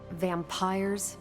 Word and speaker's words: vampyre: Vampires with a Y? Pronounced exactly the same as vampires.